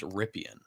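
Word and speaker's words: Rypien: think his I think his last name is pronounced ripan ripan that's a great name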